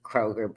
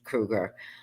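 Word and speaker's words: Kroeger: Everybody pronounce it Kroger, but it's Krueger.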